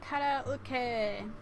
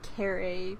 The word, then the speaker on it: カラオケ: So used to saying karae because that's what most people have pronounced it. It's a lifetime to get rid of bad habits. But karaoke.